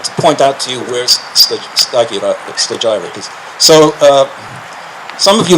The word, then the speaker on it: Stagira: You would pronounce it Stagira. Stagira, I guess, in English.